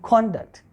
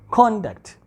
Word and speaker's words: conduct: cell a bit louder we have to put some extra force on the first syllable conduct it's not conduct it's conduct your conduct is not